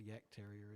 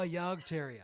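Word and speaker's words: Jagdterrier: have to Google what a Yak Terrier is. I've got no idea I think now. it's JAGD or something. Yeah, I don't know. Oh, Yard Terrier.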